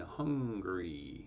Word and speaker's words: Hungary: as cuba mauritius and hungary hungary yeah it's not hungry it's hungary hungary pickleball two syllables hungary three syllables not surprisingly the disease